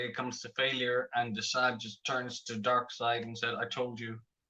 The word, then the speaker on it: DeSaad: Am I pronouncing his name right? Yeah, that's it. That's it. Straight from the comics. Yeah, Desaad.